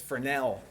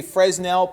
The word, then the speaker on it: Fresnel: sense use forel Reflections the S is silent don't say s it's frell if you say fresnell people will laugh and